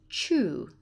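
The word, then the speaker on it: 中: and there it is and it's pronounced chu chu G core remember to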